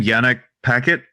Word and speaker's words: Yannick Paquette: Yannick Paquette.